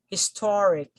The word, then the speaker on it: historic: we have historic historic so the the word here ends with the suffix e and then the syllable preceded by the suffix is the syllable thor so therefore the stress falls here so historic historic if it